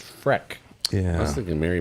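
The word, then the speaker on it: Frech: My number, F-R-E-C-H, Rich, but it's pronounced Freck.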